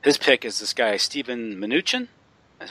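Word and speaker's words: Mnuchin: Um, and his uh, appointment or his, uh, his pick is this guy Steven Minutuchin, is how you pronounce it.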